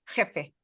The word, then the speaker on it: jefe: I mean, well, you know, when you say boss in Spanish, am I saying it right? Jefe? Jefe. Sí, jefe.